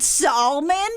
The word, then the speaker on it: salmon: Do you pronounce it salmon because that's how it's spelled? Well, now I know that's a silent L.